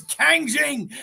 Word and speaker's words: Kang Jing: knew that see it's the Kang is easy especially being a Marvel lover right because that is